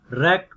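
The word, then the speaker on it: wreck: डब्ल्यू एंड are initial, रेक, डब्ल्यू is silent, wrist, W is silent, writing, W is silent.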